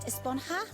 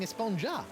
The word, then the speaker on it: Esponja: And that's what this whole Esponja Grande thing has been about, huh? Actually, it's pronounced Esponja with an H sound at the end. Esponja? But we've all been saying Esponja.